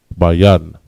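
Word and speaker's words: בין: The word understand in Hebrew is bayan. Ba, ya, and na. Ya and na connect. Bayan.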